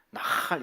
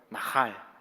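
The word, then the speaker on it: נחל: 완전히 그 광야에서 건조한 바람이 막 불어가지고 목이 막 마르고 그 모래바람 때문에 목이 잠겨가지고 가래가 끓듯이 막 나할 이렇게 하셔야 됩니다. 할 수 있겠습니까? 다시 한번 해볼까요? 나할.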